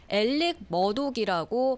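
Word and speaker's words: Murdaugh: 지금 화제가 되고 있다면서요네 그냥 스펠링만 보면 사실 일렉머독이라고 발음할 것 같지가 않아요 알렉스 알렉스 머도 같은 그런 스펠링입니다네 그런데 본인은 물론이고요 뭐 변호사 검사 재판관계자들과 현지인들 모두 엘릭 머독이라고 발음하고 있습니다 그래서 이렇게 발음이 스펠링과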